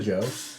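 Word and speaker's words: DJO: It's Yeah, but it's pronounced Joe.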